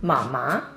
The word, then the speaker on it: 妈妈: And usually we pronounce it as 爸爸, mama.